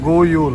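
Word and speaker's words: God jul: ऊपर लिखा है गुड यूल है। गोयूल। अच्छा, डी को साइलेंट कर देते हैं।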